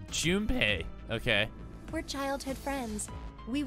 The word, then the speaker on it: Junpei: His name is Junpei. Oh, I was saying his name wrong. Junpei.